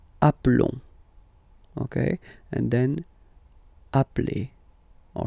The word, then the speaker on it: appelle: they are the same, then it does change the pronunciation of e. You tend to pronounce it like really open. That's the reason why you pronounce it appel.